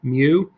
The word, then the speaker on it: mu: the same way, but it's pronounced mu. So we use the Greek letter mu to denote the population mean.